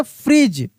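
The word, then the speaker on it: fridge: एफ आर आई डी जी ई को हम लोग पढ़ेंगे फ्रीज। फ्रीज यहां पे डी साइलेंट रहता है। साइलेंट लेटर है। डी डी चुप रहता है।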